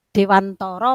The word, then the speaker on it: Dewantara: Ki Hajar Dewantoro atau disitu biasanya Dewantoro membacanya tapi di sini tulisannya kihajardewantara begitu ya satu Arti